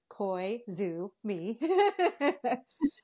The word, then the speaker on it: Koizumi: band we are called Kumi and then you pronounce it like koisu me um and I'm here because we just came